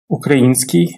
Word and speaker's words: український: Український українська. Тут варто звернути увагу на наголос. Він падає на і український.